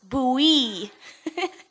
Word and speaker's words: Bowie: It's a state, and the city we're moving to is called Bowie. But my sister said it's spelled like Bowie, like David Bowie, but it's pronounced Bowie.